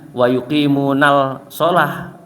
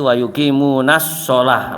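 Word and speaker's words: وَيُقِيمُونَ الصَّلَاةَ: Jadi alif dan lamnya itu tidak dianggap dalam pembacaannya, walaupun tulisannya tetap, karena untuk memberikan makna, ya, tulisannya tetap memberikan makna, cuma cara membacanya jangan wa yuqimunal sholah, ya, tapi wa yuqimunas sholah, langsung masuk ke huruf shotnya, karena itu lam samsiah, ya.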